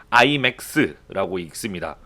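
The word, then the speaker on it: IMEX: CGV에서 나오는 그 아이맥스가 아니고 그 인센티브 트래블 미팅스 앤 이벤트 익시비션의 약자로 해서 아이맥스라고 읽습니다.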